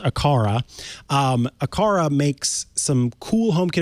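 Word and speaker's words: Aqara: way so i knew i know now it's pronounced akara akara makes some cool homekit accessories uh rosemary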